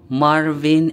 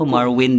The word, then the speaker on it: Marvin: Ayan so sabi niya welcome K Marvin and K Ivan. Pero pag-pronounce nila sa pangalan ko Marwin 'di ba? Marvin. Marwin. Wala silang letter V eh.